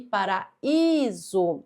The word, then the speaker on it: paraíso: Então aqui nós temos eh um i tônico, porque a sílaba mais forte é essa aqui para iso.